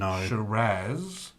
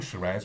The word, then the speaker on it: Shiraz: dark color of this shiraz uh and i'm saying shiraz because i say shiraz some people say shiraz but um i figure